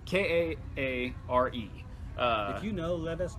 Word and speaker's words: Kaare: I don't know how to say his name. Carrie Andrews. I always pronounce it Kari. Yeah, Kaare.